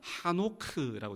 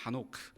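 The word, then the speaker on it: חֲנוֹךְ: 에녹의 히브리어 원어적 그 이름의 발음을 보면 에녹이 아니라 하노크라고 되어 있습니다. 하노크.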